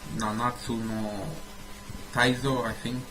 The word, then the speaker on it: 七つの大罪: It's pronounced Nanatsu no taizai, I think, whatever.